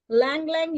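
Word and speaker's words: ylang-ylang: किसी को high blood pressure है तो उसका ब्लड प्रेशर लो करने के लिए हम लैंग लैंग, YLANG, Y silent है, लैंग लैंग यूज करते हैं हम ऑयल।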